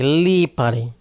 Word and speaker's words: Lipari: So, Leari, Lipari, Lipari, guys, if you want to pronounce my name correct. Lipari, Lipari or Leari or what, you know, whatever you want to say.